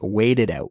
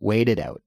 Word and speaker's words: wait it out: say it quickly right weighted out weighted out it's not a harsh T sound it's more of a sof softer almost between a T and A D sound but that's how we